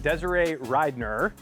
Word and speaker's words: Desirae Ridenour: We're here with Canadian triathlete Desiree Ryner, right? Yes. Okay, that's good because I've heard the pronunciation about a million different ways.